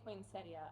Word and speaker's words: poinsettia: So whether you pronounce that I in there or not. Okay. So if I say poinsettia, I'm not saying it wrong. No. Okay. Really nobody's saying it. Nobody's saying it wrong.